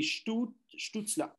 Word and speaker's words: Stützle: Stützle. Tout cela. Tout cela. Oui, ça c'est... Ça se prononce comme Marco Sturm. Tu sais, l'ancien joueur des coachs à Los Angeles en ce moment, c'est Stützle.